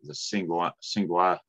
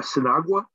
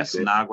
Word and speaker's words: Sinagua: know, there is a, I'm not sure how to say it, but the Singua Indians, I guess, north of Phoenix, 30 days after, A Sinagua? Yeah, Sinagua, I guess that's how you say it, yeah.